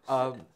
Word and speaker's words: Ingobernable: Ingobernable.